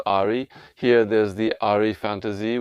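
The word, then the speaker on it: ají: I have Aji peppers or maybe it's pronounced Aari.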